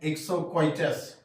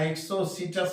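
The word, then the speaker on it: Exocoetus: एक्सो सटस flying फिस इस flying फिस को हम लोग गलती से पढ़ लेते हैं एक्सटस याद रखना एक्सो सटस में ओ साइलेंट है तो फ्लाइंग फेस हुआ एक्सो सटस यहां पर एक और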